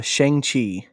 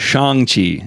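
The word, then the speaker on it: Shang-Chi: out before before the eternals yeah oh uh shang chi you got it wrong name nazi it's shang chi it's oh my gosh i just i feel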